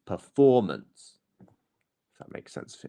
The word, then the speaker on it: performance: the next syllable after it is the stress syllable so performance not performance or performance it's performance if that makes sense for you lovely well